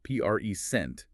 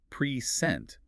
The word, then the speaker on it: present: If you place the heavy beat on the first syllable, present, it's a noun meaning a gift. But if you shift that beat to the second syllable, present, it becomes a verb meaning to give or display something.